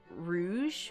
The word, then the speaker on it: Rouge: Is pronounced with a J because the French word rouge, which means red. See, rouge.